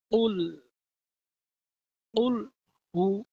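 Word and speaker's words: قل هو: বলুন উল হু উল হু একসাথে উল হু কুল হু কুল হু কুলহু বলবেন না কুলহু বললে অশুদ্ধ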